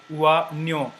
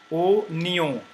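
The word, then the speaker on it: oignon: or even in English, o nyo. Okay, it is not wa nyo but o nyo.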